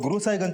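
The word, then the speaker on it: गुरसहायगंज: गुरसाईगंज सर गुरु साहिगंज को वहां के लोकल लोग गुरु साहिगंज प्रोनाउंस करते हैं।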